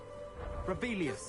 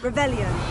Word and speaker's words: Revelio: Rebellious. You're saying it wrong. Ugh. Revelio.